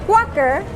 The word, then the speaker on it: Quaker: Along with it, they've given us this, which is Quaker, is the Spanish pronunciation for Quaker.